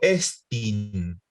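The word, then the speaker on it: ἐστίν: Entonces, como yo tengo el acento en la E, digo estin.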